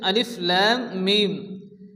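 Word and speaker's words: الم: হরুফে মুকাত্তায়েত বলা হয় লাম এবং মিমের উপরে মদের চিহ্ন আসছে লাম এবং মিম কে চার আলিফ পরিমাণ টেনে পড়তে হবে মিমের উপরে তাসদিদ এই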